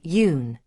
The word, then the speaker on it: Yun: Yun is pronounced similar to Yun, and Hui rhymes with Wei, with an H sound at the beginning.